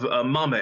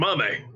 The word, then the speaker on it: Mamei: Coming up next, we have Mamei. Am I pronouncing that right? Yes, that is correct. Excellent, Mamei.